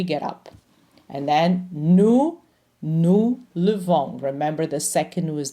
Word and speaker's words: levons: We don't say nous lèvons, we say nous levons. So the stressed syllable is the last one.